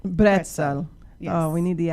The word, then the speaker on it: Bretzel: Bretzel. Bretzel.